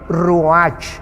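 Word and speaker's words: רוּחַ: y exhaló Isaac el ruach apúntalo se tradujo espíritu la palabra hebrea para espíritu es ru pero la ch en hebreo se pronuncia como J es ru ru como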